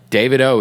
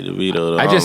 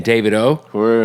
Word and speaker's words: Davido: yeah my man Fireboy and by the way David O is how you say his name oh yeah I say DeVito I thought I thought listen I interviewed him